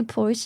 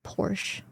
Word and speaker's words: Porsche: Apparently Porsche is pronounced differently in Germany.